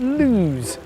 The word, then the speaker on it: Loose: pub in the beautiful village of Loos spelt loose but pronounced to rhyme with news the landlord Shah get